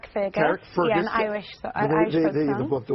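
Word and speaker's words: Carrickfergus: Karen Fergus, how do you say it? Carrick Fergus.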